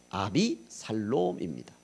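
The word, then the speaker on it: אבשלום: 압살롬은 히브리 발음으로 하면 아비살롬입니다.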